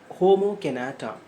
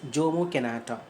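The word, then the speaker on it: Jomo Kenyatta: written by homo kinata j-o-m-o it should be pronounced as homo canada but you should not pronounce it as jomo kanata okay let us move on so what are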